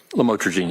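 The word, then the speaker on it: lamotrigine: about the u the lamel otherwise known as lamatrogene. Did I pronounce that right? Lamotrograene.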